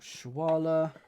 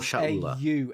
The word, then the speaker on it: Shaula: Mikol Shwala. Oh. Did you spell it right? No, I didn't. Mikol. It's Mikol Shaula. Aula. Yeah. Shaula, not Shwala.